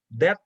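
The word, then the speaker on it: debt: miliar jadi kita bagi deb to equity jadi jadi ini Deb dibacanya De ya Deb hutang dibagi equity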